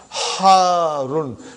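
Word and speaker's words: حَارٌّ: Harun. Because the shadda is on ra. So you got to pronounce it properly.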